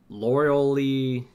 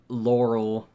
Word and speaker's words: Laura Lee: and I also have Laura Lee oh gosh no I always want to say her name's Laurel or lower in but it's not that yeah Laura Lee Lee there we go Laura